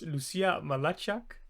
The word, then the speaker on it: Lucija Mlačak: And I'm really hoping I'm pronouncing their names right. It's Lucija Mlačak and Sandra Mrkšić.